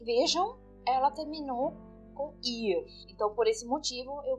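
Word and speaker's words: ihr: diferenciada né então o ir ele é um pronome e eu só menciono ir eu não estou eh pronunciando o h aqui nessa palavra nesse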